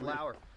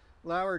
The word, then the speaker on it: Lower: it would be lower ello wer but it's pronounced Lauer Lauer trail we went from it's along the Juniata